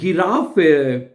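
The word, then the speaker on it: Giraffe: फे को ठीक है गी जो जी है उसको आपको पता है गे करके प्रोनाउंस करते हैं ठीक है तो क्या बनेगा दी गिरा फे गिराफ ठीक है आगे है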